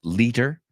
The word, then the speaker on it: liter: De hecho, en inglés americano, liter, como la T es como una D, suena como leader.